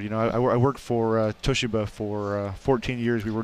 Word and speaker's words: Toshiba: You know, I worked for Toshiba for 14 years.